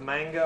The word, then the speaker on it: manga: Has anybody ever heard of manga or anime before? It's pronounced manga. It's manga, yeah.